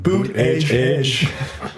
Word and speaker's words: Buttigieg: We need someone popular like Pete Buttigieg. People can't even pronounce Boot Edge.